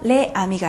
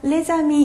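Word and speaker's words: les amis: 자, 그리고 모음으로 시작하는 단어가 왔을 때는 리에종이라고 하는 연음을 해 줘요. 그래서 레 아미가 아니라 레미가 되겠죠? 그래서 레자미 이렇게 해 주셔야 되거든요.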